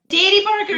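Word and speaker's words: Dairi Burger: the dairy Burger I never say it right da Burger yeah I said right yay yeah to that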